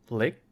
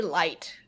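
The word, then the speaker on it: Licht: Lick. I don't. L-I-C. I always want to say light, but it's not light. It's not. And I was like, I want to say the T, but I was like, is it liched?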